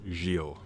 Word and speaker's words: Giles: stress how bad this that name's pronounced jeal by the way so let's get this